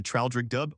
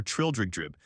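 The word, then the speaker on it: Traldragdubh: It contained a warrant for conducting me and my retinue to Traildrogdubb or Trildrogdrib, for it is pronounced both ways as near as I can remember, by a party of 10 horse.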